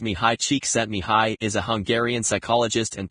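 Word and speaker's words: Csikszentmihalyi: Mahali C6 and Mali, pronounced mih high cheek set mih high is a Hungarian psychologist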